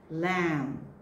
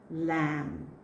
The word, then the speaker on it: lamb: You have to drop one letter. Lamb. Lamb. So silent B.